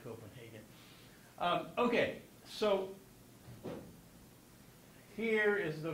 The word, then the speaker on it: Copenhagen: Of course, in Danish, it's Copenhagen, but in English, do we say Copenhagen or Copenhagen? And the answer is Hagen. Why? because the Germans say Hagen and the Danes are, have some problems with the Germans. Especially during World War II, where they were occupied. Okay, so if you can, when you pronounce the city's name, say Copenhagen.